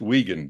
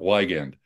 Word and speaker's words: Wiegand: uh correction John uh my last name is pronounced wegan not weend I had a colleague